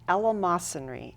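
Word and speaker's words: eleemosynary: got a very interesting title Ella mry it's pronounced Elam masry and uh again it's an angels theater production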